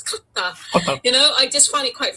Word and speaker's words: Qatar: They pronounce it. They say Qatar, and I'm just like, it's not Qatar, it's Qatar.